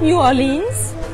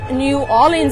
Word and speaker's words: New Orleans: heutige Stadt New Orleans man sagt nicht New Orleans sondern es wird New Orleans ausgesprochen oder noch besserle und wir haben da